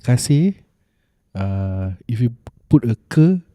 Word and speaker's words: kasih: No, kasih. Oh, different. Oh, yeah, like different pronunciation.